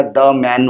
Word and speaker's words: Daman: बहुत interesting way लिखुचंती डीटा capital एमटा capital जेते पढ़ा होछि सेटा द मैन भले सुना जाउछि बट उच्चारण करचंती आपण दमन सो ए नाटा केमिति